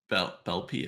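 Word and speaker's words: Beeple: art or yeah no Bel bpy I forgot how to say it's not blippy that's the child's uh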